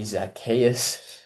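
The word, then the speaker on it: Zaccheaus: Oli Zakayas, that's how you pronounce his name.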